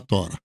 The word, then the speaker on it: Torá: Você vai encontrar a Tora ou Torá, como queiram a pronunciar.